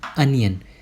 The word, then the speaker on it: onion: नहीं, इसका correct pronunciation जो होता है वो होता है अनियन।